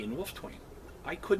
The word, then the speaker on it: Wolfetwain: The funny part about the name, Wolfetwain it's Wolf, silent E, Twain. When I got my Knight Scroll, it didn't have the silent E in Wolfetwain.